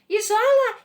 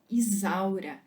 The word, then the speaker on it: Isaura: As pessoas corriam atrás dela na China, gritando: Isola, Isola, Isola, Isola, Isola, porque eles não conseguiam pronunciar Isaura.